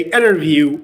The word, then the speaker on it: interview: So when N is followed by T, you can delete the T sound and you can say interview instead of saying interview.